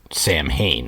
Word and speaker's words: Samhain: somewhere in the process the band started pronouncing it Sam Hayne or at least the fans did and because it was kind of easier to say it that way the name St